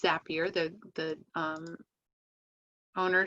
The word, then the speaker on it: Zapier: and it's it's pronounced zappier the the um owner said it's it's zappier because it makes you happier but it helps you